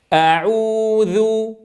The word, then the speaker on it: أعوذ: تنبه أولا إلى ضرورة فتح الفم فتحا وسطا عند نطقنا للهمزة المفتوحة، فلا نقول أعوذ تأملوا الفرق بين الصوتين حين أقول لاحظتم كيف يختلف الصوت؟ إذن لابد من فتح الفم عند الهمزة، ثم أضم الشفتين عند العين المضمومة.